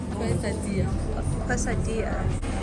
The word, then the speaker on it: quesadilla: Hey, Quesadilla is silent. And the L is silent. Okay. This is quesadilla.